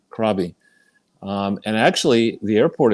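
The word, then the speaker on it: Krabi: Uh, I was briefly I I was in Thailand and I there's a place it's spelled K R A B I Krabby.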